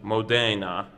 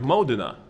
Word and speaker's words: Modena: probably says balsamic vinegar of Modena many people pronounce it as Modena but it's the balsamic vinegar of Modena the reason is is because it's made here